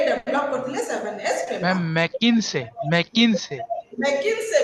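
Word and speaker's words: McKinsey: एक नंबर जोटा ये अंके सर प्रोनाउंसिएशन का मैडम मैग्नीसिस मैग्नीसिस आपण जोंती प्रोनाउंस करंतु किछ असुविधा नै हैला मैग्नीसिस कोइ परिबे मैग्नीस कोइ परिबे से डेवलप करथिले 7S frame ma'am मैकिन्से मैकिन्से मैकिन्से भी कोइ परिबे मैकिन्से इट इज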